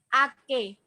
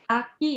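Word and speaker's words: 秋: Musim gugur, Ake. Hai, Aki ya, Aki. Bukan Aki. Ingat, yang Ki itu mirip kunci. Ki kunci.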